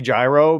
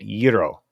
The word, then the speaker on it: gyro: New York or Pittsburgh if Greek people say Euro it is Euro if Turkish people say